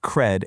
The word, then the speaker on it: cred: It's pronounced cred. And yeah, it perfectly rhymes with red, bed, and fed.